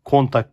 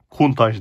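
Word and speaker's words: Countach: bir araç gerçekten Lamborghini kumtaş lp5000 qw geçen bir Lamborghini 5 box eskilerden kalma bir Lamborghini vardı ona kontak demiştim bir arkadaşımız beni düzeltmişti kumtaş diye okunuyormuş evet bu araç Bu da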